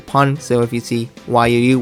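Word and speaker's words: Yuu: So if you see Y-U-U, which is pronounced Yu, and that means more or less, it's just a name, but Yu sounds like our English U-Y-O-U, which we designate as her,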